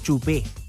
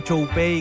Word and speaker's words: Chupey: Claro, de hecho la teoría es que se pronuncia Chupé. Algo por ahí, pero no Choupey como se chilenizó.